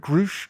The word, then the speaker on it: Grusch: So this is all off of we're doing this episode because David Grush, is that how you pronounce his name? Yep. David Grush. Grush.